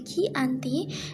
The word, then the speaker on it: Giyanti: 13 Februari 1755 nama jianti sendiri diambil dari lokasi penandatanganan perjanjian yakni di desa Janti dalam pelafalan Belanda ia tersebut sebagai chianti dan secara tertulis ia